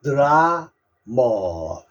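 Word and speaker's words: drama: 그다음에 우리가 연속극 좋아하는 드라마죠 드라마 드라마 영어로는 드라머 드라머 드라마 됐죠네 오늘도 공부한다고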